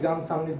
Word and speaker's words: 감사합니다: Okay, how to pronounce it? 감사합니다.